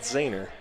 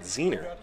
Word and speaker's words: Zahner: As Zahner, his name is pronounced Zahner, of Henry Zahner, which is different from his grandfather. His grandfather actually, they had pronounced it Zehner because they used to own a pork producing company called Zehner's Wieners. So, but apparently, as they've matured, they've gone back to Zahner.